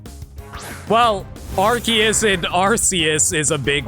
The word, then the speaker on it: Arceus: What are Pokemon names that were really annoying to pronounce? Well, Arceus and Arceus is a big one because for the longest...